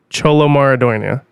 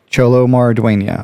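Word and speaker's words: Xolo Maridueña: people say it and I do believe it is pronounced cholo maradonia so cholo marduena okay uh but I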